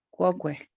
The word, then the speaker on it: quoque: quoque, ok. Quoque. Siempre pronunciando la U que está después de una Q.